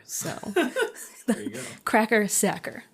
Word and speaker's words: Sachar: I had to look up how to pronounce his last name because I wasn't sure, but according to him, it rhymes with cracker. So there you go. Cracker Sachar, right?